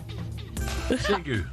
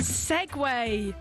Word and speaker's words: Segway: Segu. Both wrong again. Segway.